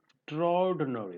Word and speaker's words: extraordinary: It is not extra. There is nothing extra here. It is extraordinary. There is no This is silent here. So this is extraordinary.